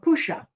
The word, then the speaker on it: Pushya: and 20-minute area called Pusha, where your moon is. You, Mr. Client, can look that up online. Pusha is spelled Pushya, and you can get further elaboration on that.